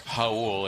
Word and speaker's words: Raul: Again, it's Raul. It's spelled like the Spanish.